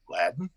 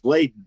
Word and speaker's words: laden: because so many say latin no no it's lit it's laden as in like the biblical thing come unto me all